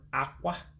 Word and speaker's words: akwa: So you can have your king size bed, but at least you know how to pronounce it. And it would be Ah-Kwah, king size bed. Remember the word Ah-Kwah, which means bed, and Eze means king.